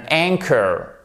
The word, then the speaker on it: anchor: Même chose, ici, le H, hop, on n'entend plus. An anchor.